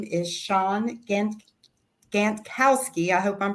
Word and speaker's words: Shawn Gantkowski: Your name is Shawn Gantkowski. I hope I'm pronouncing that right.